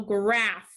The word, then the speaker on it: graph: number one let's spell graph graph graph is spelled g r a p h graph that ph is making the f sound number two is phone